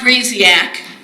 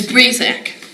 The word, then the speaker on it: Breezak: It is Breezak. It's not Breeziak. It's Breezak.